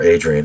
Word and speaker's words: Adrien: for new orleans this was adrienne deposit or adrian a d r i e n the french